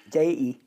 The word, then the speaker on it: Dei: And it's pronounced Dei? Dei. Deity.